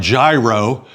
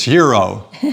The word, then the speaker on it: gyro: It looks like gyro but I think it's hero sandwich and that's lamb.